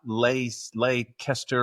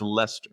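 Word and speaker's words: Leicester: But I saw in the subtitles how it was spelled and I was like, "Oh, so it's not leester or leester or whatever." It's Lester.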